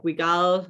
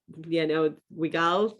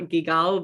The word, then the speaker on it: Guigal: I hear Pégau more commonly within the US, just like Guigal, or Guigal, but not Gigal, but that's what I hear more often.